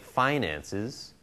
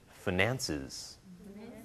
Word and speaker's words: finances: finances finances yeah uh in the first version the first syllable is a diphthong phi and stressed finances okay in the second version the first syllable is a short vowel and the stress is on the second syllable finances okay but i